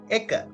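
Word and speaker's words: එක: அப்ப ஒன்றுன்றதுக்கு என்ன எக்க, ஒன்றுன்றதுக்கு எக்க. அப்ப ஒரு நூற்று என்றா இந்த சியன்னு சொன்னதானே இங்க சியன்னு உச்சரிப்போம்.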